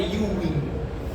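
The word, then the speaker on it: Ewing: El segundo tumor primario más frecuente en el hueso en gente joven es algo que se llama sarcoma de Uwin. Se escribe ewin con e y ewin.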